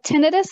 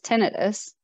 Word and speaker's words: tinnitus: tinnitus and not tinnitus because it's not an inflammation an itis it is tinnitus and it is any